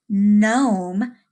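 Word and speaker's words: gnome: with a silent G when G and n are together it makes the sound mmm just like Nome that you worked on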